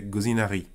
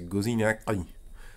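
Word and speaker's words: გოზინაყი: prononce pas très bien tu peux faire un rouler si tu le disais rapidement ça fait gozinari mais c'est pas la bonne prononciation c'est gozinia c'est un espèce de E qui pourrait ressembler quand un français fait imite un corbeau un canard mais alors c'est très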